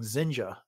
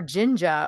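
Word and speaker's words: Zsinj: Up until I heard January Lavoie do the audio version of this book, I just always pronounced that as Zinj. But they were clearly saying Zinja. Or Jinja almost.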